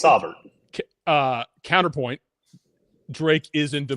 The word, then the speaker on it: Saubert: How do you pronounce Eric Saubert's name? AJ. It's Saubert.